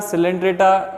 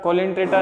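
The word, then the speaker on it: Coelenterata: इनको लर्न कैसे करना है, देखो प्रोनाउंसिएशन पोरीफेरा सिलेंट्रेटा, कोलेंट्रेटा नहीं है ये, सिलेंट्रेटा निडेरिया ही बोलते हैं इसको।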